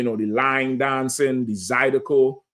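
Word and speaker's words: zydeco: They gonna have, you know, the line dancing, the Zidico. Zidico or Zidco. You said it right the first time I said Zidico.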